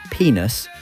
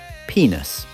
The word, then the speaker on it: penis: Greenslade instead spent most of the lesson teaching us the correct pronunciation of the male organ, stating repeatedly that it wasn't penis, but penis.